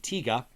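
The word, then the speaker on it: Tiga: of the show Ultraman tigga not tiger though it looks like tiger uh tigga is how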